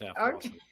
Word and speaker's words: Halfwassen: made it all American now. As we ditched the Dutch and the German. It's just Halfwassen. Okay. He's not German. I think you used the German pronunciation there.